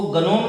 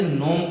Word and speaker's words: gnome: GNOME, इसको गनोम नहीं पढ़ के नोम पढ़ेंगे।